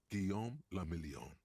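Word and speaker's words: Guillaume Le Million: Guillaume Lamillion. If it doesn't rhyme, you're not pronouncing it right.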